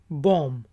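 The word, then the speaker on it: bomb: बीडीओ एमबी है और इसको प्रोनाउंस करते हैं बॉम्ब बीच जो है साइलेंट है लास्ट वाला और इसका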